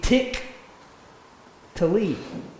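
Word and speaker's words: תִּקְטְלִי: are all running together, you have tav prefix, you have shavaz, 2 shavaz in a row, underneath the kaf and the tet, which means that the first one is silent because it's got the short vowel, and the second one is pronounced. So this word in Hebrew would be tik tali.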